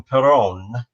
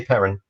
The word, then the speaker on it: Perron: Some people, Carly, some people call them Perron, the Perrons, but they say Perrin. They say parent. Okay, They cool. do pronounce it Perrin, right?